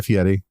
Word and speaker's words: Fieri: And at one point, Guy Fieri asks him, he says... Good pronunciation on both Giro and Fieri.